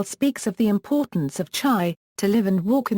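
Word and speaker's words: חי: Hebrew alphabet, Chet and Yod, forming the word Chai, meaning alive, or living. The most common spelling in Latin script is Chai, but the word is occasionally also spelled Hi.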